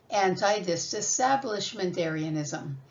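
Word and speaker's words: antidisestablishmentarianism: A-N, you know, is an. T-I is tea or tie. Dis or s, and tab, and lish, and ment, and air, and e or I, and anism. If you put it together, you have anti-disestablishmentarianism.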